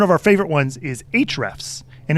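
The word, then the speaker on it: Ahrefs: of the one of our favorite ones is HR F's and it's spelled kind of weird it's a the letter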